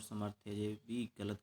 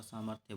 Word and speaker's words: सामर्थ्य: कर देते हैं बच्चे और समर्थ कर देते हैं समर्थ नहीं होता सामर्थ्य बोलेंगे जब शुद्ध उच्चारण करेंगे